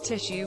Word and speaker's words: tissue: People who pronounce tissue without a shush sound but with an S sound.